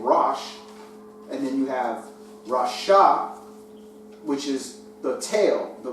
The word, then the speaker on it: rasha: You know, it's very close to Rosh, which means head.